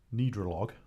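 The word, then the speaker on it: Gnidrolog: Have you heard of the band Nidrolog? Silent G at the front of that.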